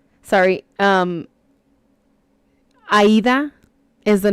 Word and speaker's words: Aida: Ada? Sorry, Aida is the name of my best friend, and it is spelled like Ada.